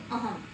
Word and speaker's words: अहम: और अह के लिए अहम का प्रयोग करते हैं, तो क्योंकि ह के ऊपर यहाँ पर हमारे पास अनुस्वार है, तो इसको हम इसका उच्चारण करेंगे अहम।